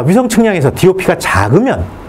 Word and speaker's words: DOP: DOP가 맞는 얘기입니다. 이걸 답이라고 읽으면 GPS라고 뭐하라 그래? 급쓰라 그러지. GIS는 기쓰라 그러고. 어쨌든 우리는 DOP라고 다 똑똑똑똑 떨어지게 발음해줘야 돼요.